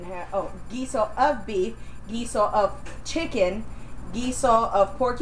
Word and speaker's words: guiso: it's a different kind of broth but it's pronounced the same way with a GU i s o gizo and gisada is g u i s a